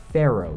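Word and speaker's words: faro: is what's called a pharaoh shuffle not like the egyptian pharaohs it's spelled f-a-r-o and it's actually named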